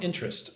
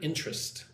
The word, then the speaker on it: interest: But anyway, strong interest. So look at the word interest. When I say that word, I say it like two syllables. Interest. I do not say interest.